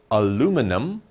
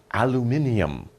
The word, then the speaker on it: aluminium: it but just remember Americans will say aluminum British people will say aluminium okay so depending on